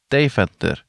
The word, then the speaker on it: Deventer: After landing in Amsterdam, we took the train over to Deventer, which is how Janne told me it's pronounced.